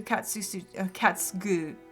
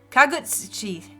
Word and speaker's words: Kagutsuchi: However, as Izanami gave birth to Katsugu, oh, that's a hard one. Kagutsuchi, that's how you say it.